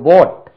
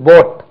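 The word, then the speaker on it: bought: பாருங்க நீ வாங்கினாய் யூ போட் bike past tense போட் பி ஓ யூ ஜி எச் டி இது பாட் கிடையாது போட் போட் அது என்ன சார் பி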